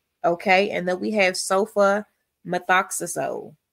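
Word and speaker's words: sulfamethoxazole: And then we have sofa methoxyazole. Sofa meth. And let's look at that. Sofa. Notice that sofa. It's telling you, showing you how to pronounce it. Meth oazo.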